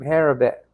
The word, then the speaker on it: Habakkuk: The quotation is from Habakkuk, chapter 2, verse 3.